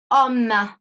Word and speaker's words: homme: Le H muet comme dans homme. Homme contient un H muet.